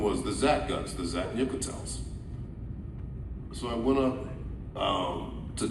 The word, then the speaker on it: zat'nik'tel: So the first one was the Zat guns, the zat'nik'tels.